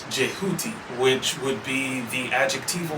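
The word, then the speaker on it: Djehuty: further insight on Thoth, whose name is being butchered whenever we say Thoth. If you look at how his name is actually supposed to be spelled, it's DHWTY or something like that. This is more closely to being pronounced Jehuti, which would be the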